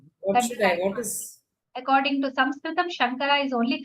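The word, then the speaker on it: शङ्कर: So Sha is Vishnu, Sha, Murdhanya. The places are given in the phonetics. Sha. That's the Sha.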